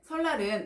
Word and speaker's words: 설날: 4 솔라 를 보실게요 설난 을 보시면 발음이 어떻게 되죠 설 아 날로 발음이 어떻게 재정 날 로 자유기업원 볼게요 솔라 른 설날은 날에 이은의 앞에 오는 유미 율에 영향을 받아서 미유 로 바뀌게 됩니다 그 결과 설날 로 발음이 되는거죠 난로는 여러분 어때요 난로는